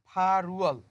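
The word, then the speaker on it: 팔월: এর পরেরটা পরিবর্তন হবে, দেখেন রিউল বাসিমের পর সামনে ইউং আছে, তো এটা হবে ফারুয়াল, ফারুয়াল, আগস্ট মাস।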